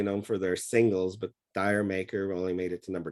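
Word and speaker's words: D'yer Mak'er: it both ways some some people say it's called jer maker because it's after jamaica but i heard dire maker and all the dj's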